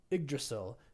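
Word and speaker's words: Yggdrasil: say this in Norse igdrasil is how I'm going to say it y g d r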